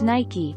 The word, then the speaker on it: Nike: way of saying the brand name Nike is pronounced Nike confirmed sky who ought to know that our